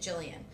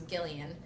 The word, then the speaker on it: Gillian: My mom didn't know that most people pronounced it Jillian. So she saw it in a name book and she assumed it was Gillian.